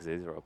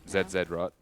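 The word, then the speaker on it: Zz'Rot: Zed rot. It's what it should be. Zed rot. Yeah. Zot. How do you pronounce two Zurot? Because it's like pizza, right? It should be a T sound.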